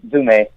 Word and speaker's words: Zoúme: It's just in Greek, and it's pronounced Zoúme.